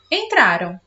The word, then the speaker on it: entraram: Então, eu não falo ão, eu falo an, né? Então, só que quando a gente pronuncia rapidinho, fica muito parecido com a pronúncia do ão. Só que tem uma diferença. Então, prestem atenção aqui, ó. Entrarão, entraram. Tá vendo a diferença da pronúncia?